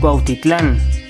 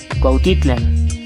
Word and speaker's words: Cuautitlán: por mencionar un ejemplo muchos lugares cuyo nombre en náhuatl aún sobrevive se suelen pronunciar como si fueran palabras agudas producto de la castellanización cuando en realidad eran palabras graves por ejemplo cuautitlán cuautitlán acatlán acatlán teotihuacán teotihuacan